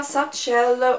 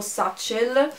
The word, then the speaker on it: Satchel: Allora, questa è la borsa Satchel o Satchel, dipende da come lo volete pronunciare, se in inglese o in italiano, di Michael Kors, che